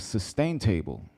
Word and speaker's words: Sustain Table: Today we have 2 in studio guests, and first is Ricardo Lopez, CEO of Sustain Table. That's how you say it? Yeah, sustain table. It's a play on the word sustainable.